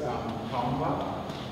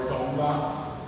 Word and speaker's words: Tongva: Another name that you guys might hear associated with this is Tongva, or Tongva. You don't really pronounce the G in our language, but this word was,